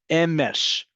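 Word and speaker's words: אמש: Emesh, one word, two syllables.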